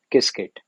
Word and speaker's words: Qiskit: one keyword called as kiskit now qiskit this is uh pronounced as kisket so what is cascade